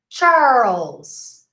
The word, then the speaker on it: Charles: Charles. Charles. Remember? Like pearl. World. Charles. Charles Edward.